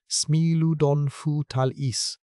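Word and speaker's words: Smilodon fatalis: And no animal defines the collection like Smeiladon Fatalis, pronounced Smeiludon Fu Talis, the saber-tooth cat, 7-in canines, the body of a bears-sized wrestler, the official state fossil of California.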